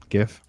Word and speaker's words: GIF: GIF. I don't care what the original creator says. I pronounce it the same way the peanut butter.